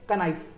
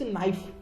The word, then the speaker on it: knife: इट्स नाइफ, नॉट अ कनाइफ. यहाँ पे के साइलेंट है.